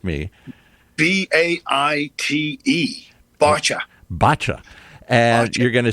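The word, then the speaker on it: Báite: Okay, and you can go to Newport Beach Film Festival, and this film, spell it for those who are Irishly challenged like me. BAITE. Bacha.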